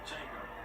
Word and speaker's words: Django: And the D is silent like Django.